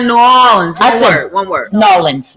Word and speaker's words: New Orleans: Nolans. It's actually how it's spelled. Nolans. So it's no Nolans. Nawlins.